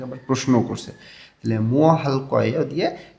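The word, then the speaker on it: 할게요: দেখেন রিউল উল বা রিউল এর পরে যখন গেওক আসে তখন এই গটা ক উচ্চারণ করতে হয়, এটা ভাতসিমের ক্লাসে আমরা শিখছি। তো এইখানে উচ্চারণটা হবে হালক ইয়েয়।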